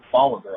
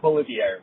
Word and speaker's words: Bolivar: 10 miles south of Bolivar, Ohio. Not Bolivia, Ohio, as Jeff said in a previous episode, but Bolivar, Ohio.